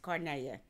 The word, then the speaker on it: Carnelia: The correct Italian pronunciation is Carnelia. We say Carnelia. Yeah. So, Carnelia. Carnelia. Carnelia. Carnelia, because you rolled the G.